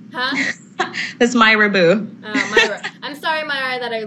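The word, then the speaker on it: Mira: you know who what Mera or I might be saying the name wrong it's m i r a Myra sorry Myra I did not mean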